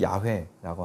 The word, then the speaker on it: 야훼: 여호와 혹은 야훼라고 부르는데요 히브리어는 자음만 있어갖고 음가를 정확히 알 수 없고 보다 가까운 발음은 야훼라고 하는데요 야훼라는 이름은 14절에 나는